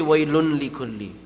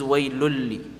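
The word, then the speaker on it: ويل لكل: But you don't say waylun likulli. First off, that's a mouthful. It's allowed to say. At the same time, the noon is not pronounced, and it's also merging into the lam because it's one of the two letters where the noon sakin is going to merge into the letter. So this is waylulli, not waylunli, and you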